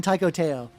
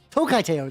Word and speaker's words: Tokai Teio: And then psych, I'm building Taiko Teio. Tokai Teio, there we go. I mispronounced her name.